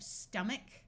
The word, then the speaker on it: stomach: Once again, this OR tends to sound like The CH in this word will use its second sound of k. So we have stomach, monk, and monkey.